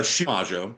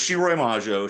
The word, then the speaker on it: Shiroi Majo: Okay, so it's a Shimajo. It's a little I hard to. He said it wrong. I want to put that out there first. I got it from him. Yeah. So it's Shiroi Majo.